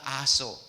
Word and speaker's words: aso: Hindi aso, ha? Hindi yan pronounce malumanay. Sa mga teacher, aso. Ang buhay ninyo ay parang aso. Aw, aw, aw. Hindi ganon. Aso. Ano ba yung teacher, ano to? Ano mo ito ako pangalan? Ha? Rose pala, Rose. Teacher Rose, maragsak. Aso. Am I right? Pronunciation, hindi malumanay.